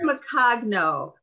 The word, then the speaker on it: Macagno: I think it's Macagno, right? Or Maria, which one? Macagno. It's Macagno. That's how it's pronounced. Macagno. It's in Italian.